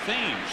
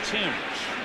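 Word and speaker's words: Thames: with a hit and it looks like it should be pronounced like the river that runs through London looks like themes but it's actually pronounced Tims swinging a high drive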